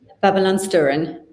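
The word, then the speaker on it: Babylonstoren: And I just wanted to show a couple more from, tell me how you pronounce it. Babylon Sturen.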